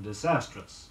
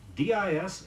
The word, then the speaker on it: disastrous: Avoid an extra sound in disastrous. Notice its spelling. D-I-S-A-S-T-R-O-U-S.